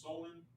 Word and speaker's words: Samhain: back to the ancient celtic festival of champaign pronounced solon the selves who lived 2 000 years ago